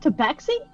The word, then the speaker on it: Tabaxi: Is it pronounced Tabaxi? It is indeed.